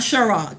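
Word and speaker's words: Cîroc: Girl, I'm telling you, I don't want to have to explain why it's pronounced Ciroc and not Ciroc.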